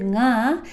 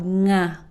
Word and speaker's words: nga: And there is no n at the start of nga. So just simply think of it this way. Take the end of the word sing and just add a right after. No pause, no restart. Then you'll be able to create the nga sound.